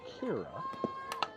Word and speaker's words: Kyra: Her first name is pronounced Kira.